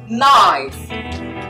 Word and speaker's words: knife: the knife is wrong the k is silent so the word you have here is knife knife is a sharp